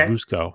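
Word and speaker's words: Vučko: So V-U-C-K-O, I guess it's pronounced Vushko.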